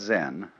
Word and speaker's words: Zen: minute silence so then this word zen is Japanese way of pronouncing the Chinese word chan which in turn is